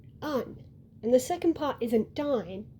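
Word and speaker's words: Ondine: The first part is not on, it's un. And the second part isn't dine.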